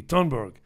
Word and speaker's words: Thunberg: I think they say Thunberg. They don't pronounce the TH. It's a hard T. Thunberg.